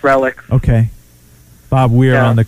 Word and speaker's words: Relix: It's pronounced Relics.